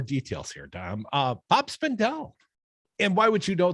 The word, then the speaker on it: Spindell: know bob spendel's name you know spindle rhymes with lindell like my pillow guy but spendel also at